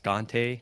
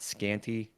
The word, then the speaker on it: Kante: co-host and spoiler alert it's pronounced scante not scanty even though that's what everybody says it looks like or that's what everybody reads it as um I think we